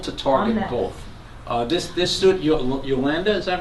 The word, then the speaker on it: Yolanda: This student Yolanda, is that right? Yolanda. Yolanda. Yolanda. Rhymes with rotunda.